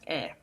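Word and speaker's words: に: so head which is we've heard earlier two is also a goal of movement knee can be rewritten as hey and pronounced e watashi ni otashiwa kyogako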